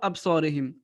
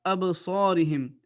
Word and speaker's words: أبصارهم: Ici, vous avez la règle de qalqala. Ab. C'est pas absarihim. C'est wa ala absarihim.